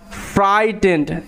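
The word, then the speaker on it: frightened: পরে টি আছে তাহলে জি এইচ এর পরে যদি টি থাকে জি এইচ সাইলেন্ট মানে জি এইচ এর উচ্চারণ হবে না এবং জি এইচ এর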